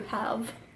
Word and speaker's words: halve: I pronounced it extra hard for you, halve, as in to cut in half.